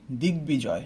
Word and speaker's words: দিগ্বিজয়: আমরা নোট করি যে গ অথবা ব অথবা দন্তস্ব এর সাথে ব ফলা যুক্ত হলে তা উচ্চারণ করতে হবে। ওকে, একটা এক্সাম্পল দেখতে হবে, যে আমি যদি বলি দিগ্বিজয়, হ্যাঁ, আমরা বলি না